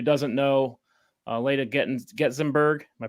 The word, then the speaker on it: Getzenberg: for everybody who doesn't know uh later getting getzemberg am i pronouncing that correctly you got it it's a